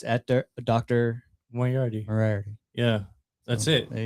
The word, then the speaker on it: Moriarty: Moriarty, very simple on all platforms.